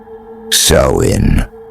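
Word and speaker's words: Samhain: back to the Celtic Festival of Sam Hoin pronounced so in observed by the ancient Kelts of Ireland Scotland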